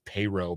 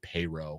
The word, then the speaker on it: Perrot: perrot's employer uh oh I GNA say it's payro probably we'll go with payro I don't think he pronounced the T at the end uh so pay's employer